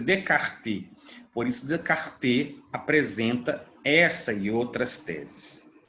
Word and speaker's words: Descartes: Então, por isso, Descartes, não é Descartes, a pronúncia é Descartes, por isso Descartes apresenta essa e outras teses.